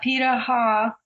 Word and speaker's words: Pirahã: Amazon and let me see make sure I'm pronouncing this correctly the Paha yeah Paha it's a Brazilian word for these people who